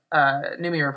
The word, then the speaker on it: Noomi: Noomi.